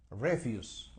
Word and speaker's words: refuse: como n Okay y se pronuncia refuse Okay refuse cuando está utilizado como sustantivo refuse refuse Okay refuse the Stress is on the first sy o sea el acento está en la primera sílaba and it refers to